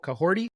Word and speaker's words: Kahhori: Kahhori, is that how you say it? Yes. Your pronunciation was dope.